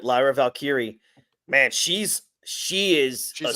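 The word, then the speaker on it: Lyra Valkyria: and how about um what's how do you pronounce her first name Lyra valkyri that's right Lyra valkyri man she's she is a star she's gonna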